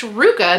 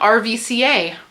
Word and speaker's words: RVCA: it that's Ruka FYI recently learned that that is pronounced Ruka not RVCA the things you learn